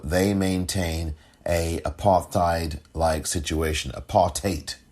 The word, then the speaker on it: apartheid: Apartheid, which is the proper pronunciation of the Afrikaans. Apartheid situation with one-party minority rule.